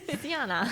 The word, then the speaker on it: Sjana: Oh, yeah, Siana. Sorry, it's a really complicated name. SJ, just to throw you off, ANA. But, yeah, looks like Sjana, but pronounced like banana. Siana.